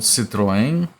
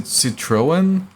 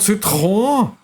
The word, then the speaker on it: Citroën: Because where I live, those are called Citroën. And then in English-speaking countries, they pronounce it Citroën. And then the people who actually came up with that name were just like, ho, ignorant fox. It's called Citroën. You can't even say Citroën properly, you freaking barbarians.